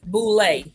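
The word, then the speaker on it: Boulé: So there's a couple of different ways to pronounce it. No, it's called Boule.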